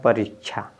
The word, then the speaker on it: परीक्षा: इसको छा नहीं पढ़ते हैं, ये आपका होता है, ये जो होता है इसमें क्या होता है, आधा क होता है, फिर आधा क्या होता है, श होता है, ठीक है ना। यानी ये इसको क और फिर श, तो परीक्षा क्या